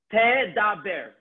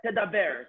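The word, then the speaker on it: תְּדַבֵּר: Let's say the taf was a segol. So the emphasis would be on the taf, tedaber. But because it's a shva, it's a bit more tedaber.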